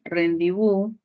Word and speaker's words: rendibú: Y finalmente tenemos ahí rendibú, tilde en la U. Si hacemos separación silábica sería ren, di, bu, sílaba tónica, bu, y se constituye una palabra aguda.